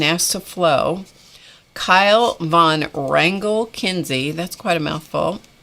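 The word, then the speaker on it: Wrangel: his grandmother margaret von rangel and rangel is spelled w-r-a-n-g-e-l internationally grown internationally known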